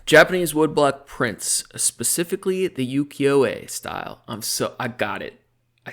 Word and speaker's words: Ukiyo-e: Japanese woodblock prints, specifically the Ukiyo-e style.